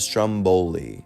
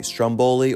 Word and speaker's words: Stromboli: Now, I've heard it pronounced either way, Stromboli or Stromboli, the latter being pronounced by many Italians, including the great Martin Scorsese.